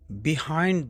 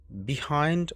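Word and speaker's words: behind: বিহাইন্ড them there is a school building. তাদের পিছনে একটি স্কুল ভবন আছে। এখানে বিহাইন্ড শব্দের অর্থ হচ্ছে পিছনে। এর দুটি উচ্চারণ আছে বিহাইন্ড অর বাহাইন্ড। দুটি সঠিক।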